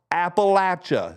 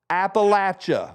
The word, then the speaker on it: Appalachia: we have your attention it's pronounced Appalachia say it with me Appalachia one more time Appalachia now my favorite of